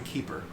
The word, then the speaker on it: Kuiper: is vemm beeman them keeper actually keeper well it's well typically pronoun uh spelled kuiper but it's pronounced keeper for some reason yeah i can't imagine